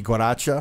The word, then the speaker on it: guaracha: about that a little guaracha yeah i say like you know we pronounce the g guaracha okay yeah yeah instead